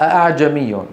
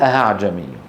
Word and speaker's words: أأعجمي: الأخطاء التي تقع عند نطق الهمزة المسهلة، قلنا أولا تحقيقها، هذا أحد الأخطاء، أي نطقها همزة خالصة. أعجمي، هذا أخف بكثير من أن يقول أهعجمي. ثانيا إبدالها هاء هكذا أهعجمي، هذا ما بصح.